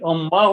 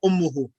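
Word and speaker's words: أمه: Is it ummahu or ummuha? Always a dhamma, ummuhu.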